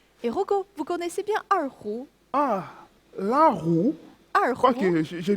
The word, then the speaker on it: erhu: Et Rocco, vous connaissez bien erhu? L'erhu? Je crois que j'ai bien prononcé l'erhu. Oui, erhu.